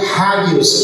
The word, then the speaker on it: Águios: os maridos das águias, A palavra águios, na verdade, originalmente ela se pronunciaria hagios, que é uma palavra grega que quer dizer santo.